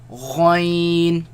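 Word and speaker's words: غ: Kha, Ghain, Ghain, Again, the ya sound. Do not produce the nasal sound.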